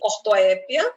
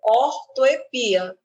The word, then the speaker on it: ortoépia: a questão da Orto o nome pode ser escrito assim ortoépia ou ortoepia tem dupla pronúncia eu posso vê-la como uma paroxitona terminada em ditongo ou como uma paroxítona terminada em a tranquilamente a ortoépia vai